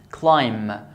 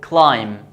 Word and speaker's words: climb: When we have the B after M, this B is silent, which means we don't pronounce it. For example, climb.